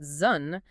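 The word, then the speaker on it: 屯: And hexagram 3, which is pronounced Zhun, is the symbol for initial difficulty.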